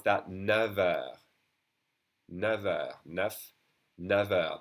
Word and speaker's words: neuf: But we pronounce that never. Never. Neuf. Never. That F is pronounced like a V when doing the liaison. Okay? Never with a V sound.